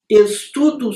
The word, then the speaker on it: estudo: No escrito está aquela letrinha, mas na pronúncia a maior parte diz U, estudo.